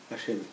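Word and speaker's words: השם: Si je vois dans un miroir, c'est Eshin Mem. Comment ça se prononce? Hachem. Hachem.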